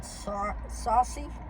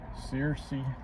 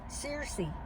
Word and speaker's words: Searcy: They're in Saucy or Surrey. Neither one. How you say it? Searcy. Searcy.